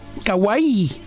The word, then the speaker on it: kawaii: compras Lo cierto es que son los patitos kawai Kawaii me lo enseñó pronuncia Juli hace un rato sí sí viste